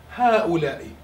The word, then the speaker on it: هؤلاء: الجمع هؤلاء. Once again you hear the ألف but you don't write it down.